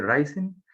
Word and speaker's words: Ryzen: Ryzen, se dice Ryzen.